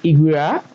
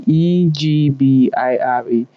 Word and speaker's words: Ebira: I'm calling Egbira, and then it's spelled without the G. And most times I'm pronouncing it like you have the Egbira, and then it's spelled Ebira.